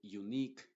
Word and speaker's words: unique: Y en todas las palabras que terminan en que, la U y la E son mudas. Y la Q se pronuncia como K. Por ejemplo, se va a decir unique, antique, mask. ¿Te das cuenta entonces? Esta U en estos contextos no se está pronunciando como una W.